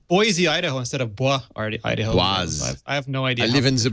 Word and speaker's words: Boise: Everybody outside of Idaho says Boise. It's With a Boise. Z, but it's Boise.